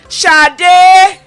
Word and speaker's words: Sade: But it's pronounced Shade, isn't it? Shade as in Shade Adu.